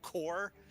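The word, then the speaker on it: Korb: at the front so core the b is silent right yeah yep there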